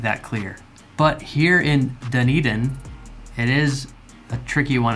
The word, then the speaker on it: Dunedin: But if you haven't heard it pronounced Dunedin, it is kind of hard to wrap your mind around that pronunciation.